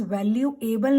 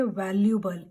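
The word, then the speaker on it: valuable: Next one इज वैल्यूएबल नहीं कहेंगे, we will say वैल्यूबल.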